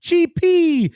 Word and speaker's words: C.P. Company: while our friends at CP company respectfully pronounced CHP in your best Super Mario voice already creates some of